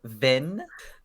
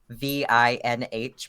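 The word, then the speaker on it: Vinh: would love to okay so vin v-i-n-h pronounced vin is a male cobalt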